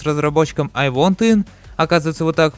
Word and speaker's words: I Want In: Скорее всего, самое интересное это то, что разногласие с разработчиком I Want In, оказывается вот так произносится это название, является каким-то плохим человеком, совершивший какое-то преступление.